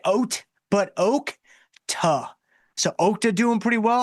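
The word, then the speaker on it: Okta: It is pronounced oak t like oat but oak t.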